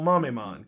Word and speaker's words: Mamemon: And I was like, oh, okay, Metal Mamemon, gotcha, that's how you say it.